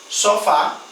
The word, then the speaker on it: sofá: Por exemplo, sofá. Sofá é acentuado só, fá, no A.